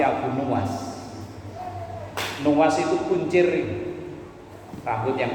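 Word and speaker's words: Abu Nuwas: di makalah berapa kalau dalam kitab ini cara bacanya bukan Abu Nawas tapi Abu nuas nuas itu kuncir rambut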